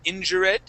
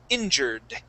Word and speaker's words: injured: Okay, now this E in the word injure is silent. We would not say injure, okay? But when we add a D at the end, Okay, we only pronounce the D. So instead of saying injured, we would say injured.